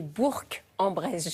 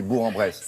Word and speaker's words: Bourg-en-Bresse: Alors ce matin, je vous emmène entre Lyon et Bourg-en-Bresse.